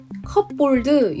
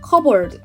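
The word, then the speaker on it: cupboard: 만약 제 가 그 단어 를 철자 하나하나 를 써서 외운다면 , 분명히 "cup-board" 라고 외울 거 예요 . 하지만 실제로 는 이 단어는 " 큐버드 " 라고 발음 합니다 .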